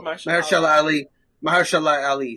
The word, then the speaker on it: Mahershala Ali: How's his name pronounced? I always have a struggle. Mahershala Ali.